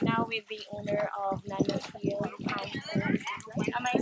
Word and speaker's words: Nana Field: right now with the owner of Nano Field.